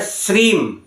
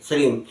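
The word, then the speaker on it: श्रीं: जाप करना है लक्ष्मी जी का बीज मंत्र श्रीम एस R double E एम अंग्रेजी में बता दिया वैसे हम य लिखकर भी बता देंगे श्रीम श्रीम श्रीम का आप करें उच्चारण और उच्चारण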